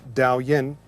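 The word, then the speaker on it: Daoyin: for Qigong in the ancient classics a word pronounced Dao Yin actually meant massaging the body when we practice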